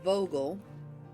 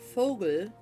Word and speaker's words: Vogel: that they do, because they pronounce it Vogel, but the German word Vogel means a bird, and it's spelled the same way.